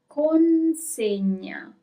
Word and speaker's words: consegna: Delivery is consegna. There is an N here. Watch out. Consegna.